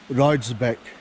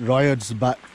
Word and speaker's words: Roydsbeck: that runs through it this woodland called roydsbeck and i was pronouncing it riot's back back and the name